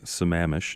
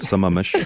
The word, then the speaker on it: Sammamish: comes in we know how to pronounce Sammamish not some Amish and you know and